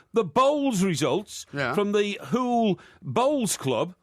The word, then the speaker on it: Hoole: bowls results from the Hoole Bowls Club. Right? Hoole? Yeah, that's where I lived. Hoole, that's the district. Right. Hoole. Sounds like Louis Van Gaal's pronunciation of Hull.